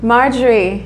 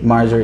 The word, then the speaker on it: Marjorie: Marjorie. Marjorie.